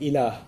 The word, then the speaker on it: ilah: which there's the term ilah. If you want to write that in English, it would be I-L-A-A-H, ilah. It's pretty easy to pronounce in English, okay?